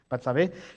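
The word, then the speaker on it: Betsabé: Ya habría pasado todo lo que pasó con Bathsheba, ¿cómo se dice? Batsabé, ya habría pasado todo lo que pasó con Goliat, ya habría pasado todo lo que pasó con todas las guerras.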